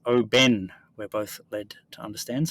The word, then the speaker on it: Oban: on the pronunciation of what we were calling Oban uh pronounced Oben we're both LED to